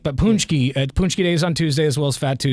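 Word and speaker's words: pączki: punchies on Fat Tuesday well punchki is spelled p a c z Ki just like it sounds baby yeah it's got a the K or the I think the C has like a little Squig bigly underneath it it's you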